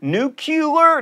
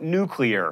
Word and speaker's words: nuclear: fact lava and pasta nuclear nucular note nuclear this is an officially